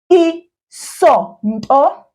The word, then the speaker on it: Isonto: Isonto. Isonto.